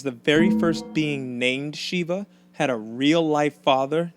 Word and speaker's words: Sheba: the way it's pronounced it's actually pronounced Shiva no not that Shiva that name should sound